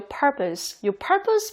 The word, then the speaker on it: purpose: 발음은 다 당연히 아실 거라고 생각했는데 의외로 요 purpose 발음이 어렵다고 하신 분들 되게 많더라고요.